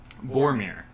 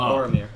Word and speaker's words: Bhormir: And you see your father, Boromir, is Boromir. There's no O. Boromir. I got really excited. Oh, I didn't think Oh, about that. bruh. It's spelled BHORMIR.